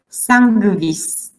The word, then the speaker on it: sanguis: Now this NGU is pronounced as NGV. Now let me show you. Sanguis, pinguis, lingua, ungvis, ungventum.